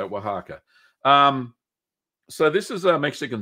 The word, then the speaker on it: Oaxaca: Queso Oaxaca, that's how you say it, Oaxaca.